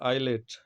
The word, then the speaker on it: islet: तो यहाँ पे एस का प्रोनाउंसिएशन नहीं करेंगे, ठीक है। इसी तरह से आईलेट, ISLET, ठीक है।